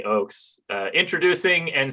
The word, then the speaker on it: Ochs: should say your name is uh christopher j oakes uh introducing and saying goodbye to christopher j oakes you pronounced it correctly i'm i'm delighted and honored